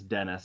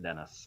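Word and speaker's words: Denis: by the way to make sure that was Dennis and not like the French pronunciation so yeah it's weird to look at that and pronounce it Dennis I feel like I'm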